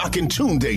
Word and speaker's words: Akintunde: The Akintunde Show. Spell it. A-K-I-N Tunde. Oh, yeah.